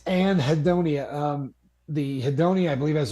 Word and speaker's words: anhedonia: It is not anhedonia. It is anhedonia. Like, I believe, I have no idea how to spell it. It's anhedonia.